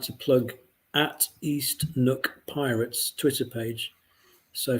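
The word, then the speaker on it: neuk: to plug at east nook pirates twitter page so for those of you not scottish nook is spelt n-e-u-k east nook pirates twitter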